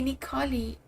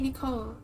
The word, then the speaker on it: Nicole: My name is Nicole. But in Brazil, we say Nikoli. That's how we pronounce. My name in Portuguese. Like in English you guys say Nicole. And in Germany people say Nicole, but in Brazil we say Nikoli because in Portuguese we pronounce everything like that.